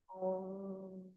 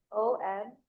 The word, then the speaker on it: Om: And then a long exhale with a Om. And remember, Om is spelled O-M, but when we say it, it's A-A-U. So A-U-M. You're pronouncing it A-U-M.